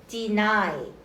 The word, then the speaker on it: deny: Deny입니다. 뒤에 Y가 장음 소리 나고 얘는이 소리 나요. Deny 무슨 뜻?